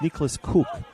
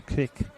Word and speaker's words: Nicholas Cook: It's Nicholas Cook, not Kirk or Keck.